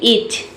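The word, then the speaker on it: itch: ईच में देखिए आई को यहाँ पे ई पढ़ा जा रहा है। ईच का मतलब होता है खुजली। ईच में जो टी लेटर है ये साइलेंट रहता है, इसमें हम टी को नहीं पढ़ते हैं।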